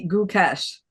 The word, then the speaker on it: Gukesh: first name oh yeah right way guys I thought about how to explain this to you it's it's D good cash okay I can't go